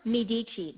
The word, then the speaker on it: Medici: So it's pronounced Medici. That means you tell me in Italian.